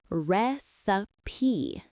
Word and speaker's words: recipe: This is a great one because it looks like it should rhyme with pipe or type, but it absolutely does not. The vowel sound in the middle is the I sound as in sit or kit. It is. Three syllables with the stress on the first syllable.